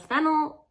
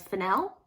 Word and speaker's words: Fennell: kogan and Jacob AI written and directed by Emerald fennel as I've recently found out is pronounced Emerald finel so go off finel saltburn follows a first